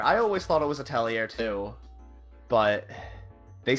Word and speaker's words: Atelier: Outerhaven that apparently has one, I am reviewing Atelier Chalet Plus. So I'm working on that, and hopefully that'll be up soon. Atelier, you mean? It's an RPG. It's a JRPG, right? In the game they say Atelier.